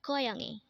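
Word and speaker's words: 고양이: student next word is koyangi again this is pronounced as koyani and this is the Korean term for catch again koyangi is the Korean term for cat this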